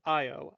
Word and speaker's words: Ao: So Ao, Ao. AO, literally Okay. spelled AO. Also Okay. sometimes Wanted pronounced to make sure. sometimes pronounced or spelled Io, Io.